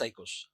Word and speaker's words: oikos: Pronounce this oikos.